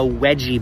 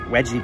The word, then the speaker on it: veggie: many times I've heard German people order a wedgy burger veggie burger ibadis is near 53rd to finder only